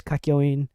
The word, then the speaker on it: Kakyoin: like my favorite is so damn cool here's kakyoin there you go with the proper pronunciation there i have let's see here's the